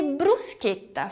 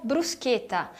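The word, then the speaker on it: bruschetta: do P condicionante você brusqueta fosse escrito apenas conter eu diria brusqueta mas como temos duas consoantes ali a pronúncia é brusqueta brusqueta se você achar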